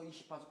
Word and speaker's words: 28수: 28 천문도인데, 요 천문도 28수 각항지방 신미기부터 이렇게 나가는 28수를 얘기하는 겁니다. 어떤 사람 28숙이라고 하는 번역한데, 제발 이렇게 글자를 모르시면 안 됩니다. 수라고, 별은 수로 읽어야 됩니다. 숙이라고 읽는 그런 오류는, 그래서 한문 공부를 배우셔야 됩니다.